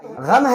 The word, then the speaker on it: غم: بھی درست ہونی چاہیے۔ غم ہے غین کے ساتھ ہے، غم استعمال کیا، اور